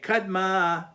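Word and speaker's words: קדמא: Kadma is always on the end.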